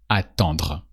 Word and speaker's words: attend: So same principle, you remove the dr sound at the end because here we are conjugating attendre, so we say attend.